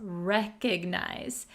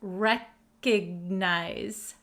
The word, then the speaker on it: recognize: Recognize. Be careful with the pronunciation. It does have an O here, but we're going to pronounce it recognize. Recognize, not recognize, okay?